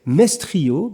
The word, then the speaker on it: Mestrio: C'est marrant parce que ça sonne presque comme maestro, mais c'est Mestrio, Nicolas Mestrio.